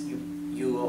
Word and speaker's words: yo: if you're having a hard time with this you can say in here and I okay Indian